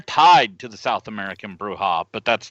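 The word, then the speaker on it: Brujah: Is that how you pronounce it? Bruja? Yeah.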